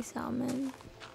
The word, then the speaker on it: salmon: Why did I say salmon? We have one rule on this channel, Amy Jane, and it's that you can't pronounce the L in salmon.